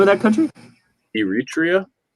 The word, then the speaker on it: Eritrea: it's a large country i've never heard of eritrea yeah neither of us 6.1 million people and apparently 14 athletes what was the name of that country eritrea eritrea e-r-i-t-r-e-a no club the red sea coast borders